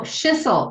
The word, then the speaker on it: Schissel: Oh, Schissel. It rhymes with whistle.